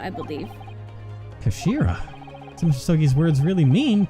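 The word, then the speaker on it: 頭: hilt yes do it it's written as head in japanese but it's pronounced as kashira i believe kashira some sookie's words really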